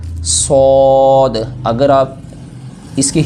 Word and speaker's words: صاد: ٹھیک ہے، شین، صاد، یہاں پر مسٹیک کیا ہوتی ہے، بعض پڑھتے ہیں سواد، سواد نہیں ہے یہ ہے صاد، اگر آپ اس کے